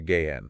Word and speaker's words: gehen: The general rule is that when H directly follows a vowel, it's usually silent, like in the word gehen, meaning to go. So it's not pronounced gehen, but rather gehen.